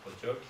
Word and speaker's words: Kotioka: En basque, on prononce Kotioka.